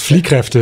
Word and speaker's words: Fliehkräfte: Then you, amazingly, because you weren't burned out or too tired, you moved on quickly to a second book, Fliehkräfte. Did I pronounce it correctly? Almost. Fliehkräfte.